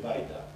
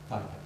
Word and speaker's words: Wajda: Is that how you pronounce it? Andrzej Wajda. Wajda, okay.